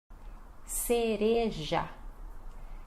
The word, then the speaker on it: cereja: Cereja. Cereja. Isso, aqui tem a questão do R, né? Então é re, então cere, e depois já, né? Cereja. Esta é a nossa pronúncia, cereja, tá bom?